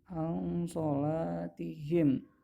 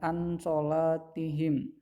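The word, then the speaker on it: عن صلاتهم: Nah ini baru membacanya Bukan unsold tapi Ang sholatihim Ang shalatihim bukan ansholatihim ya pentingnya ada nun mati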